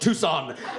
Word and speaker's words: Tucson: about it people say it's too soon and I say it's actually pronounced Tucson and we have the